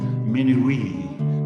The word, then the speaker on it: minuit: Minuit in French gets an extra syllable in this West African pronunciation. Minuit, s'amuser.